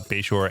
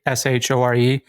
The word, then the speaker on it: Bashore: It's a Bashore, but I, for some reason, decided to put on my handles like with a Y so people knew how to pronounce it or whatever. So you didn't get called Bashore.